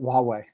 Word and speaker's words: Huawei: Oh, Huawei, Chinese manufacturer. Oh, okay. Yeah. That starts with a H. Yeah, it starts with an H, but they pronounce it Huawei.